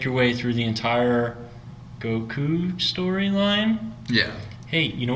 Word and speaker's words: Goku: way through the entire Goku storyline yeah hey you know what people get annoyed by is if you say gaku I take it this